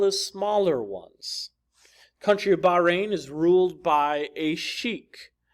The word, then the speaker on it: Bahrain: others number three the country of Bahrain or Bahrain I prefer Bahrain the country of Bahrain consists of a large island as well as smaller ones country of Bahrain is ruled by a